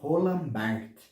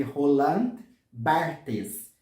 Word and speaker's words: Barthes: é um tanto controverso, porque escreve Roland Barthes, mas a gente pronuncia Roland Barthes. Alguns até pronunciam Roland Barthes, mas a convenção que se ficou ao nome deste filósofo é Roland Barthes.